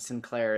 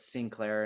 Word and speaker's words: Sinclair: I'm still like, hey, you don't actually, it's not Sinclair, it's Sinclair, and it's McLean, it's never McLean, and it's, because a